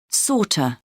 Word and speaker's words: sort of: of sounds like kaina sort of sounds like sorter like that sounds like like that and so on sounds like and so on audio 12.10 1.